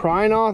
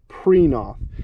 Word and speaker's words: Prinoth: mulcher but yeah it it looks like you should pronounce this print prynoth it's p-r-i-n-o-t-h but it's actually preenoff this is an italian